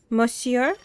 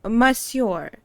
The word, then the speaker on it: monsieur: talking about monsor monsieur so you not you do not pronounce n moncio monsieur of course he says